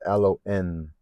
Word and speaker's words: Alowin: My daughter's name grew on me, so we have Alowin. It's a silent W when I looked it up on Google. It's Alon.